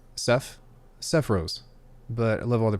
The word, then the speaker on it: Sephiroth: It's pronounced Sephiroth, but I love all the pronunciation of hearing so far.